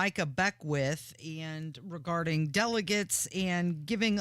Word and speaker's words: Beckwith: I think first, Micah Beckwith would appreciate if you could pronounce his name right. That's such a Midwest thing to do, like when you add an S to everything. It shouldn't be there.